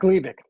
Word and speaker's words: Gleevec: Gleevec.